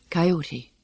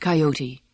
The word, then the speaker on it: coyote: listening to their song, Coyote. That name comes from the Aztec's word for them, Coyot, and should, to my way of thinking, always be pronounced coyote, not coyote, the way it sometimes is.